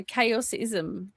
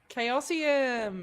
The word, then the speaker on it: Chaosium: director, Chaosism. Chaosium.